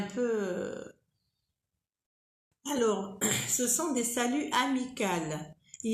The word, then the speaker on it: salut: Salut, quand vous voyez, il y a un T à la fin, mais on ne dit pas salut. On dit salut. Salut, c'est faux. On ne prononce pas le T.